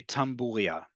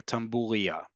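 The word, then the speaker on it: tlapalería: going to go to a tamburia or tamburia. Either one is the right way to say it.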